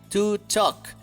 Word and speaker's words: talk: Por favor, no pronuncies la L, to talk, ¿ok?